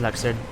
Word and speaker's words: Luxord: And I don't care how they say his name in the cutscene, it's Luxord. And I want to do